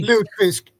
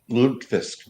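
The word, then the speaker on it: lutefisk: thank you thank you is that the proper pronunciation ludifisk yeah L lot Fisk or let's see how does it say loot Fisk lot Fisk okay okay okay lfis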